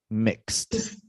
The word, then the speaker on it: mixed: mixed yeah mixed yes sound is d right yeah it's like it's like k-s-t mixed mixed perfect that's it a